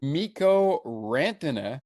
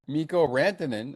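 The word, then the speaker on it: Mikko Rantanen: Mo Rantina. Miko Rantinan, I should say.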